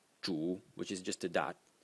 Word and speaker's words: 主: So the main person, the ruler of the state, Wang, the semantic element, and Zhu, the phonetic element.